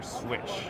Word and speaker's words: SWCH: is the Palmetto dagger switch so swch I pronounce it switch but what's really awesome